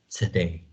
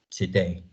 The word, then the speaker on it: today: is the word today native speakers don't pronounce the first vowel as oh we well they use the the wii power schwa so it sounds more like today today in some words schwa